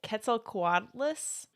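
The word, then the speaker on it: Quetzalcoatlus: love I don't know how to say it Ketel quadas that's exactly how you say it okay it's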